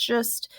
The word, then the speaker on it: schist: like could turn to schist that's pronounced just and then it could